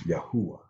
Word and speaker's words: Yahuwah: We also pronounce the Father's name as Yahuwah.